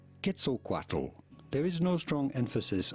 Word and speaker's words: Quetzalcoatl: YouTube say it as Quetzalcoatl, but that's completely wrong. The nearest pronunciation you can get it to the natural Nahuatl pronunciation would be not Quet at the beginning, but rather Ket. Quetzalcoatl. Quetzalcoatl.